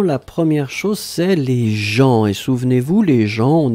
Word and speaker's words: gens: La première chose, c'est les gens. Et souvenez-vous, les gens, on écrit ça avec un G, G-E-N-S. On ne prononce pas le S final, bien sûr, mais on doit le noter.